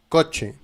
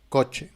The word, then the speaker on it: coche: En espagnol, si tu as la lettre C et la lettre H, la prononciation c'est ch, ch. Ce n'est pas ch, ch, c'est ch, ch. Par exemple, dans les mots coche, la voiture, coche.